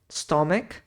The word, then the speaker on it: stomach: kidney Show in stomach o ch em inglês nessas palavras Aqui nós temos um som como se fosse de um k stom estômago Brain Blood aqui